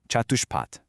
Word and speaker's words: catuṣpāt: They use the word catuṣpāt, pronounced catuṣpāt.